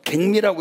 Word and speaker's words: 갱미: 쌀미자에다가 다시갱자를 쓰면은 요게 그러면 갱미라고 읽어요? 경미라고도 있고, 예, 갱미. 예, 갱미 약성가 한번 써보세요.